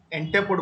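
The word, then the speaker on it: entrepôt: इंटरपोर्ट बोलते हैं, are silent है, ENTREPOT, आर साइलेंट है इंटरपोर्ट।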